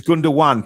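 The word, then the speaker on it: Gündoğan: Alex, it's Gundogan. Please pronounce it properly.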